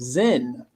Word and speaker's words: Zen: root of the word zen so Zen is a Japanese and that's a Japanese pronunciation of the Chinese word chan or Chana which is